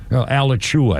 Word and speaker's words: Alachua: Alachua, I think it's pronounced.